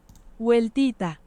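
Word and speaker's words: WELTiTA: And then it's pronounced Welita, which also means Welita.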